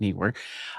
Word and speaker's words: Neewer: And then Neewer is working on putting together, yeah, that's how you say it, Neewer.